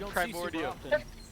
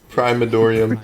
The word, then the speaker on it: Primordium: Where is the A in Primordium? He had everything for that too. He had the audio cue. Where is the A? Primadorium.